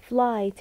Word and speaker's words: flight: Flight ال G وال H is are silent letters.